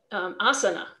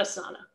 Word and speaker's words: Asana: And so, and interestingly, you may think, well, but in yoga, it's asana. It's not asana. That's okay. And actually the company says they don't mind if you pronounce it one way or the other. So asana is a more natural pronunciation for an English speaker or probably for a Romance language speaker.